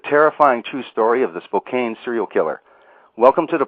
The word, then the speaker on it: Spokane: it looks like it's Spokane but it's actually pronounced Spokane a lovely town in eastern Washington and you